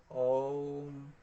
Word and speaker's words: ওম: ওম উচ্চারণ কিন্তু অ হ্রস্ব ম, অর্থাৎ ওম। ওং না, তো ওং না, উচ্চারণ করবেন ওম।